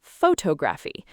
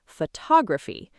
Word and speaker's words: photography: Many people stress the first syllable and say photography. But the correct stress is on the second syllable, photography.